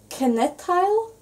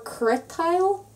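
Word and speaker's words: cniotáil: Knitile or Critile, which means to knit. In Donegal, sometimes if there's CN, we'll pronounce it like C or. It's just kind of a dialect thing.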